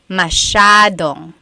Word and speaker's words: masyadong: So the S-Y-A is a sha sound. Masyadong.